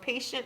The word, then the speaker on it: patient: its own word but in the first syllable of patient it's just p a p a no okay what's the second syllable patient station shint okay now we know